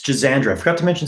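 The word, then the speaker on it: Schisandra: awesome really really accessible herbs for people it's jazandra i forgot to mention it's jazandra it's spelled c-h-i-s-a-n-d-r-a that's a very common fairly inexpensive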